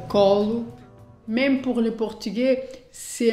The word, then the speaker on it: Colo: portugais, on prononce colo.